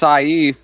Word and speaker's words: Saif: and money I wish it's actually it's actually pronounced Saif like a stupid way it should be safe